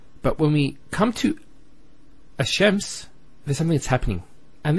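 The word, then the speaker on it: الشمس: And because they're very close, what happens is this lam is not pronounced. And what happens instead is the lam is pronounced as a sheen. So there's actually a shadda here. So it's Ash-Shams, not al-shams.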